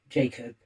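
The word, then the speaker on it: Jak0b: their artist Pels, uh, named Jacob, uh, which is spelled J A K and then a zero instead of an O B. Jacob.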